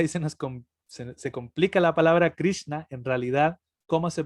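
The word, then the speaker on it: Kṛṣṇa: cierto que el aire la r con el puntito abajo que se piensa como abrí y después se combinan dos más la la consonante n con el puntito abajo viene siendo cerebral y la s que aquí es donde nos complicamos un poco la palabra anda porque a la n justamente es de prudencia así desde la garganta y la s se pronuncia como cerebral entonces dicen se complica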